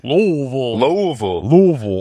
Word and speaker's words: Louisville: Louisville. As one of my best friends said, if you say it right, it sounds like spaghetti's falling out of your mouth.